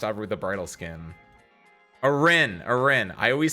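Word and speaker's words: Arene: Arin. Arin. I always say I always say Arena or RNA, but his name is supposed to be pronounced Aren.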